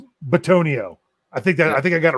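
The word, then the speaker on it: Bitonio: I always say Botino. That's wrong. It's Batonio.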